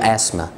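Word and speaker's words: asthma: للدكاترة ما فيش حاجة اسمها الربو مشموس، مشموس ازمة، ما تنطقش ال تي اتش، قول اسما اسما.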